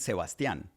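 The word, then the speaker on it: Sebastián: Okay, so and in reality, since we are friends, I pronounce it Sebastian. That's the accent in Spanish.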